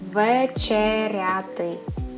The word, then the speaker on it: вечеряти: Okay, and the way you pronounce it is вечеряти.